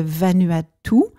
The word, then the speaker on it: Vanuatu: au bout du monde, dans un petit pays de 83 îles qui s'appelle le Vanuatu, mais qui s'écrit Vanuatu. Donc, pour les gens qui